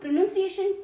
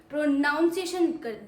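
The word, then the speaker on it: pronunciation: अब आपने एक चीज नोटिस की होगी कि आप इस चीज को भी प्रोनाउंसिएशन बोलते हैं। प्रोनाउंसिएशन इवन दो इसमें एन यू एन आता है। तो ये भी एक तरीके से गलत ही है। प्रोनंसिएशन की जगह आप इसे प्रोनाउंसिएशन बोलते हैं। तो ये गलत है और आप कॉन्फिडेंस भी आएगा।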